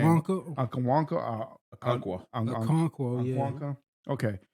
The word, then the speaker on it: Okonkwo: And your top receiver was Onwunko. I don't know how to pronounce that name. Okonkwo.